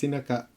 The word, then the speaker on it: Inaka: It's not Inca, it's Inaka.